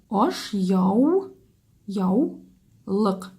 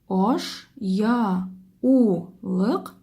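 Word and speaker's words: ашъяулык: Когда мы произносим это слово, мы «у» произносим как согласную «в». Мы его произносим «в». Аш, яу, яу, лык.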